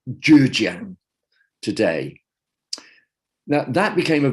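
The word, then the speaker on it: 浙江: And I think, I'll bet there's a few people that know how to pronounce Chinese listening, but I think it's pronounced Zhejiang today.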